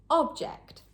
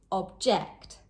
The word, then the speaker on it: object: As a noun, object, on the first syllable. But as a verb, object, on the second syllable.